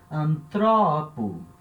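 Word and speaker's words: ἀνθρώπου: Então eu já leio aqui antropo. Antropo. Tá? Acento agora andou uma sílaba para frente.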